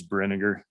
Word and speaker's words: Brinegar: And my last name is Brinegar. It rhymes with vinegar.